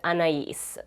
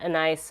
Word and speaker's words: Anais: And I just double checked, the name for this shadow is Anais, so that's the correct pronunciation, not Anais or whatever I was saying before.